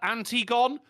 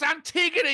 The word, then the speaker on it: Antigone: okay go for it uh anti-gon no it's Antigone you